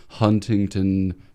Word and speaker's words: Huntington: I think it's Huntington. It's all T's.